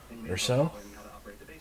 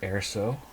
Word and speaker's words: Erso: So again, we have the 2016 Star Wars, the Black Series, Sergeant Jyn Erso, or Erso. That's spelled Jyn space ERSO, Jyn Erso.